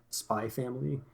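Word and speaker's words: Spy × Family: always go over this if there's an X in between two words it's always silent uh if it's at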